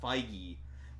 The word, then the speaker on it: Feige: But the president of Marvel, Kevin, I'm pretty sure I'm pronouncing this right this time, Feige, said, no, we're not teasing you guys.